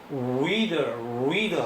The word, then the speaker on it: reader: 이 R은요 혀끝이 진동하면서 입 모양이 우자에 가까우면서 reader 하게 됩니다. 그래서 reader하는 발음에서 혀끝이 다르르 떨어요.